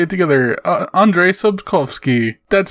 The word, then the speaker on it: Andrzej Sapkowski: what let's let's both both say it together Andrzej Sapkowski that's how you say it the way he